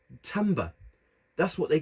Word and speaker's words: timbre: although it it looks as if it says Timber or Timbre or Timbre I've done some research it is actually pronounced Tamba that's what they call sounds on this keyboard